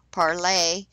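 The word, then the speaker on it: Parler: to join me on parlor parlay as it is pronounced i'm live l-i-v-e w-i-t-h-l-o-r-r-i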